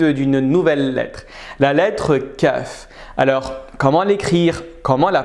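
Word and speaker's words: كاف: lettres difficile à prononcer celle là est similaire mais beaucoup plus douce on va dire que c'est exactement le cas que nous avons un français quand parent ou disons noix de coco ou koala est exactement la même chose au niveau de la prononciation c'est simple on va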